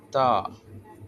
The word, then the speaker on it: ت: அதேபோன்று தா தா நாவின் நுனி நாவின் நுனி முன்பல்ல பின்பகுதியில் படுவதால வரும்.